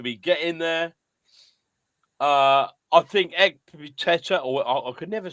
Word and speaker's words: Ekpiteta: I think Ekpiteta, or I could never say his name. You got it right, Ekpiteta.